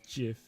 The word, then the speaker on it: GIF: how do you pronounce gif apparently the official pronunciation is jif what the guys i